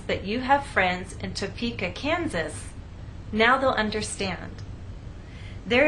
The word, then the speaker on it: Topeka: you can see that we stress the middle part of the word topa and here the